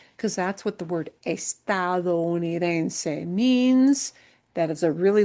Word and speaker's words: estadounidense: that's what the word estadounidense means. That is a really long word. It is typically a difficult word for US people to learn to pronounce. Estado comes from estados, estadounidense, estadounidense, US citizen.